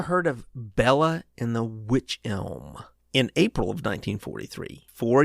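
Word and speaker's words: wych elm: elm i i think it's pronounced witch elm but it's spelled w-y-c-h a particular kind of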